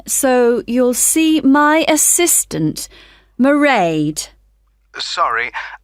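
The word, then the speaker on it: Mairead: you'll see my assistant marade sorry how do you spell that it's m a i r e a d marade okay got that it's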